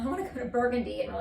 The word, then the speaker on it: Burgundy: We have a street name called Burgundy, but it's spelled Burgundy. And so people always pronounce, people who are from out of town, like, oh, I want to go to Burgundy.